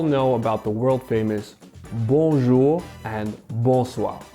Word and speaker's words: bonjour: the sun goes down a common mispronunciation for english speakers is to emphasize the end you'll want to gracefully float over it with a nasal push bonjour your nose should feel a slight vibration and that's when you